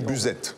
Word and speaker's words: Buzet: partie de ce territoire, prononcez toutes les lettres avec un E à la fin. Donc c'est du Buzette, c'est un marqueur territorial pour nous.